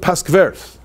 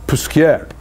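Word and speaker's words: Posquières: and in Jewish life generally, we call it Paskvers. But Paskveris is somewhere in Lita, you know, that's in Lithuania maybe, but it's not the real correct pronunciation. So it's Puskier.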